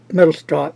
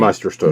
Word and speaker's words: Meisterstück: And on the band is the Mont Blanc Mittelstrop. How do you say that name? Meisterstück.